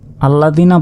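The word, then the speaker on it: الَّذِينَ: এখানে আল্লাদিনা বলার কারণটি হচ্ছে আলিফের উপর দেখুন জবর জের, পেশ কিছুই নেই। আমরা আগে শিখেছি জবর জের পেশ কিছু না থাকলে সে অক্ষরটির উচ্চারণ হয় না। কিন্তু এইখানে যেহেতু আমরা ওয়াকফ করেছি এবং ওয়াকফের পর যদি দেখেন সরাসরি কোন অক্ষরের উপর তাজদিদ তাহলে এ আলিফের উপর একটি জবর হিসেবে আমাদেরকে ধরে নিতে হবে।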